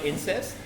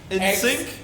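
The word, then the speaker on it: NSYNC: now we got hey do you know incest I think I might have pronounced it wrong God that's mean you mean Wiest no I mean by i n in sync in syn what ins synct the band ins sync a Australian band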